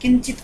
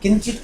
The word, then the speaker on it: किंचित: ऐसे आप जो पूछ रही थी ना, वो उसमें वो है, ये इसका उच्चारण किंचित तो हो जाता है, पर की यहाँ वाला ध्वनि आनी चाहिए।